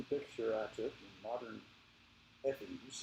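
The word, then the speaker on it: Efes: This is a picture I took in modern Ephes. They maybe just got tired of saying fuss on the end, but that's the way it's pronounced today.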